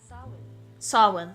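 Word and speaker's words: Samhain: Sawin. Thank you. I I struggle phonetically because I have a few languages under my belt.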